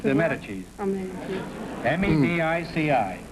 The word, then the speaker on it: Medici: Medici. M-E-D-I-C-I.